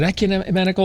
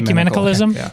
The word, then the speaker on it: ecumenicalism: i can't ever remember is it economical or is it how is it pronounced is it it's actually ecumenicalism yeah i'm not even